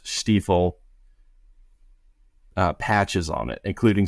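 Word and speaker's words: Steiff: both of them had big stifle or the way it's pronounced steifle uh patches on it including some star pattern stuff.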